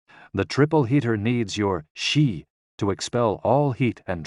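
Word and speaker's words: 嘻: with the spleen and X I pronounced like she which connects the whole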